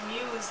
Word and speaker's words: Mus: means to inspire it's pronounced Muse not like must or anything like M